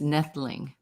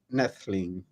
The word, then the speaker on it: Noethling: have said it correctly the O is silent so it's nettleing nestling yeah and where is